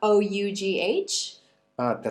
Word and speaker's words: ought: Did you catch the next pronunciation of O-U-G-H? Te refieres a la palabra thought.